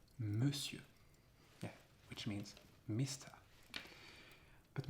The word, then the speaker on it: monsieur: Yeah, because in that word, monsieur, it is not pronounced on. It's monsieur.